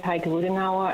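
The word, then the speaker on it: Heike Ruedenauer: and may begin good afternoon my name is heike ludinawa and for the record this is spelled h-e-i-k-e r-u-e-d-e-n-a-u-e-r I work for adsb in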